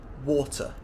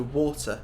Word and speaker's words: water: a des sounding thing like a very soft D so water would become water water party would become